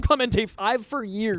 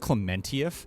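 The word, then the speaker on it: Pom Klementieff: can I please hop Clemente five for years it's actually pronounced clementia oh excuse me I had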